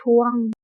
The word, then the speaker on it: ทวง: นะ คะ เด็ก ๆ ทวง อ่าน ว่า ท อัว ง ทวง หมาย ถึง เรียก